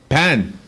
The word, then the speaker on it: pain: How's it pronounced? Pan.